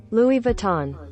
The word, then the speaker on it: Louis Vuitton: gue belajar betul Gimana cara bacanya Louis Vuitton pronounciation Louis Vuitton Louis Vuitton Mari kita membahas tentang polemik kasus